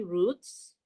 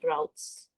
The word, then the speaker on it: route: is there are three roots yeah or do you pronounce it routes i usually pronounce it as roots and if he if